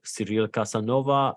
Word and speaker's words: Cyril Casanova: pleasure of having with me on this call serial Casanova CEO and co-founder of Honore gaming serial am I pronouncing the your name and Company correctly perfectly